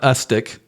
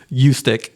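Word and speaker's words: Ustick: tell you it's not ustic it's not ustic it's not US stick it's a hard U long u you stick you stick you stick so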